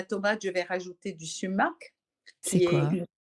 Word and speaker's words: sumac: s'écrit? Sumac, S-U-M-A-C. Tumac.